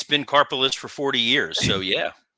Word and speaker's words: Karpeles: so it's like a Karpeles, right? It's like I'm sorry, you think Vince pronounced it properly or took the time? Sorry. Karpeles, carpal tunnel syndrome. That's what I remember it now as.